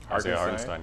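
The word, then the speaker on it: Hartenstein: Uh um Isaiah Hirestein. Yeah. Yeah. That's that's a tough one to pronounce. It sounds like Frankenstein, but you put heart in front. Put Kevin Hart in front of it.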